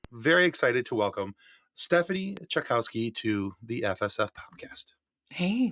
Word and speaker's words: Czajkowski: And I'm like, it's always been a conversation starter, but I'm in telling people how to say it. It's just like Czajkowski, which was like what